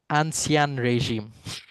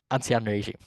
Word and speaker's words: Ancien régime: It was called, I'm not even going to try and pronounce it. Katya, maybe you can help me with your French. Ancien régime. Ancien régime.